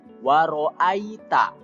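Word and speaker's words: وَرَأَيْتَ: huluna fidinillahi afwaja penjelasannya yang pertama kalimat waroa Ita disitu yg dibacanya tidak boleh ae ya tapi Ai waroh Ita kemudian disitu pada kalimat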